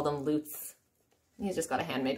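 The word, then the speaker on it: Luts: And yes, the company, the correct pronunciation of the name is Lutz, not Lutz, though I know a lot of people in the West call them Lutz dolls.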